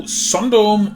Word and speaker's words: Sundome: So it being a Japanese word means no Sundome or Sundome, just Sundome.